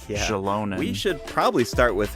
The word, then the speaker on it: Xilonen: aot Shalon okay now I know how to pronounce her right Shalon we should probably start with her profession of